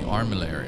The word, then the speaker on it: armillary: The armillary, okay. That's how you pronounce it.